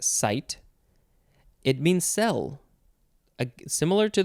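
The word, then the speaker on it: -cyte: It is C-Y-T-E, so you probably pronounce that site.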